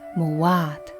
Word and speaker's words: Maat: So it's through cuneiform records, as well as later Coptic writings, that is believed that the word was originally pronounced Muwat, with the letter T as the feminine ending.